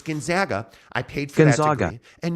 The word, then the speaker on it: Gonzaga: I want you to say it right it's Gonzaga I paid for Gonzaga and you'll respect my